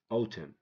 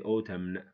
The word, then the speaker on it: autumn: the H is silent 19 autumn autumn don't say autumn column don't say column him don't say him him know him without the N why because when n comes after M the N is silent it has no sound it makes no sound it's not pronounce it